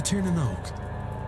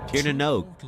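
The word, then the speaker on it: Tír na nÓg: He wants to return home to Tanoke. Tieranog is how you say it.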